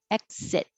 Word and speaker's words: exit: k position exit exit and you also don't release the t so i'm going to put that little mark there to remind you to hold it exit if there was a